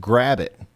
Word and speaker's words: Gravette: here soon as well Gravette is pronounced grabbit I mean would you